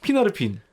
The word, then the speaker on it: 피나르핀: 있어가지고 오류를 정정하고자 하는데 핀웨의 셋째 아들 이름을 제가 파나르핀이라고 계속 했더라고요. 제가 실마릴리온 읽으면서 계속 그걸 파나르핀이라고 읽고 있었거든요. 자세히 보니까 그게 피나르핀이었어요. 피나르핀. 피나르핀. 네. 그래서 요 오류를 정정합니다. 피나르핀으로 기억해 주세요.